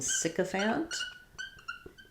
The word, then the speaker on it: sycophant: And as you notice, in sycophant, it's going to say the I sound.